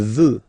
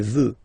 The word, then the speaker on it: veut: Il veut. Final T not pronounced. Elle veut.